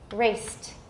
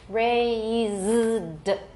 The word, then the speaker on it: raised: Sai Pao is raced, short, and voiceless. Yang Da is ray, and here we have the length mark, raised, voiced with a longer vowel.